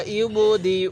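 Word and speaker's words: يبدئ: ইন্নাহু হুয়া ইউবদিউ, এই যে দেখুন ইয়ায়ের উপর একটি হামজা দেখতেছি, এই জায়গার মধ্যে আমরা ইয়াটাকে বাদ দিয়ে হামজাটাকেই ধরব।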